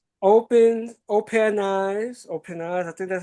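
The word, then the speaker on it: OpenAI: Open op open eyes. Open eyes. I think that's how you pronounce it. Open AI.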